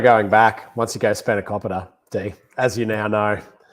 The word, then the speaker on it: spanakopita: so many other people's pronunciation of spanakopita is now like spot on. It's not spanakopita, it's spanakopita. And both of you are saying it in a way that my grandmother would turn her head.